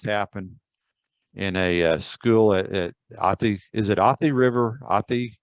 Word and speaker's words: Athi: So the research that I did on this fire, this happened in a school at Athi. Is it Athi River? Athi? Am I pronouncing that right?